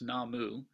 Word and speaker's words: 南無: a prefix are the two characters that in chinese would be namo and japan it's pronounced namu and these two characters